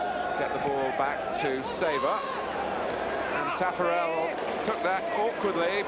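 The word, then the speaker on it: Savor: Now Wally Sabre. Which is how he asked me to pronounce his name, although known in many parts of Australia as Shavor.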